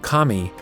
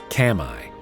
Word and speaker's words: Kami: was supposed to say you must have been sent by Kami which is the Japanese word for God they pronounced Kami Kamai and it lost me